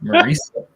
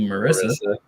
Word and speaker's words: Marisa: It's Marisa. It's Marisa. Although, you say it's Marisa, so you assume Marissa.